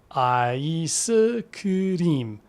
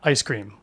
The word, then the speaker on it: 아이스크림: Break it down syllable by syllable. 아이스크림, not ice cream.